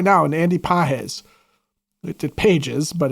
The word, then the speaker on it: Pages: They've got a guy right now, Andy Pages. It Pages, but it's not. It's pronounced with a soft G.